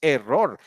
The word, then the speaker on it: error: is error error do you would never say in english error error is spanish you know you so you say error error all right so it's on the first syllable all right good yeah